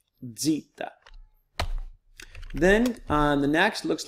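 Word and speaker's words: ζήτα: EPS alone the next is a DZ sound it looks like a Z or a squiggle here but as a DZ sound it's Zita Zita then the next looks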